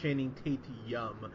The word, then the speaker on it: Channing Tatum: Joey, you said his name wrong. It's Channing Tatum.